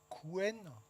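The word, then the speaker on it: Qwen: Quen, ça se prononce comme ça.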